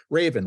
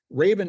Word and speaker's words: Rayven: energy efficient Heating and Cooling using renewable energy Raven which is spelled r-a-y-v-e-n Raven is using crowdfunding to allow people to invest